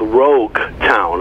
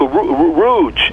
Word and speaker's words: rogue: well i look up i look up the book rouge my wife says no rouge is what i put on my face the book can't be called rouge so you know i have to spell it's rogue r-o-g-u-e rogue town and it's a uh